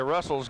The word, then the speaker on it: Russell: yep i'll tell you russell's got a pretty good carry average tonight i'd say jimmy another seven yards or six or seven yards there and lots of carries russell rhymes with hustle appropriately based on his